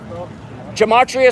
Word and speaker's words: gematria: effect sports on youtube gematria spelled like gem gem at at and then ria kind of like the sporting goods store gematria thank you appreciate you